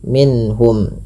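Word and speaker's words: مِنْهُمْ: Misalkan seperti ini, wa inna fariq minhum. Nah, ini kurang pas. Kenapa? Karena dia menahan huruf minh. Padahal tidak boleh ditahan, tapi minhum. Langsung saja.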